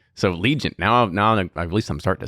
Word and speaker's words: Legent: Just like Freddie's learning with his, we learned a lot for this Legent.